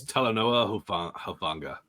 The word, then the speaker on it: Talanoa Hufanga: I'm not gonna try to pronounce this guy's name. Trey? Funga. All right. That is Talanoa Hufanga.